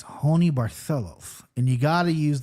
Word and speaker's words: Barcelos: Do I go Howney, or is it Howney Barcelos?